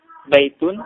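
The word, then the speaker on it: بيتٌ: Ini kita bisa bedakan baitun dengan al-baitu. Tetapi yang perlu diperhatikan pemirsa bahwa ketika tidak ada alif lam, maka cara bacanya adalah baitun. Tun, baitun, domatain di akhir kata.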